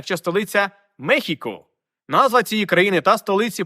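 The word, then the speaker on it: México: вона довго і вимовлялася на папері писалось Мексико але треба читати Мехіко але з часом Як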